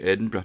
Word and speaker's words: Edinburgh: might say well that's Edinburgh Edinburgh some days Edinburgh and somebody might say Edinburgh in Edinburgh in fact when you're pronouncing it you use a schwa so it's pronounced in